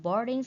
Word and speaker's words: boarding: And boarding school means trường nội trú. So we put the straight mark on the first syllable like this. Boarding.